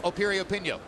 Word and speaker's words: Piriyapinyo: pinko arpino once again the name begins with a p but it's pronounced opiri opinio go figure and as we mentioned